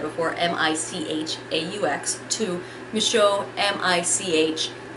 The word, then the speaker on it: Micheaux: his last name, changing Micheaux, as I said before, M-I-C-H-A-U-X, to Micheaux, M-I-C-H-E-A-U-X. The joys of French and how you can pronounce both the same.